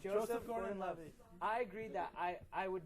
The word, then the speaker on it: Joseph Gordon-Levitt: See, I always say it wrong. Yeah, It's Joseph Gordon-Levitt.